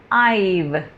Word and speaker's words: I've: सो आई am saying आइव, I apostrophe V ई, the pronunciation is आइव, like number 5, आइव, okay.